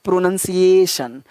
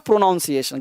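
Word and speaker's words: pronunciation: का प्रयास करोगे तो क्या बोलना है प्रोनोअनसिएशन प्रोनोअनसिएशन नॉट प्रोनोउंसिएशन गलत हो जाएगा लाइट आवाज ध्यान रखता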